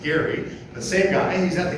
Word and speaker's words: Gerry: So Eldridge Gerry, you might have heard of gerrymandering, it's actually appropriately pronounced Gary, the same guy, he's at the convention.